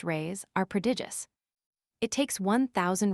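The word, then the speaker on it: reis: The Portuguese pennies or rise pronounced rays are prodigious.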